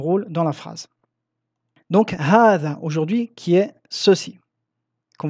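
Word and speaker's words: هذا: Hada se prononce hadha. Vous voyez ici, j'ai écrit le alif du med, mais s'écrit hadha. Donc ici, il y a une lettre prononcée qui ne s'écrit jamais. Ceci est très très rare dans la langue arabe. Il y a très peu de mots où on prononce une lettre qui n'est pas écrite, contrairement au français.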